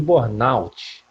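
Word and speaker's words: burnout: pretensão de ser pai a pronúncia correta é síndrome de bornout mais uma aqui pro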